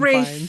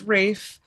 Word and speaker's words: Ralph: Rafe. I know. It's spelled Ralph. It's said pronounced Rafe.